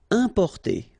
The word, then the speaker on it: importer: Importer. Okay, IM, then a consonant, so it's the nasal un.